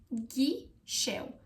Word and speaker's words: ghișeu: The correct pronunciation for this word is ghișeu. Ghișeu. So it's not gizeu, it's not giseu, it's ghișeu. Ghișeu. Ghișeu. Very good. So far, 2 points if you pronounce both of them correctly.